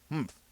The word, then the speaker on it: humph: "Humph," said the sand fairy. If you're reading this story aloud, please pronounce humph exactly as it is spelt, for that is how he said it.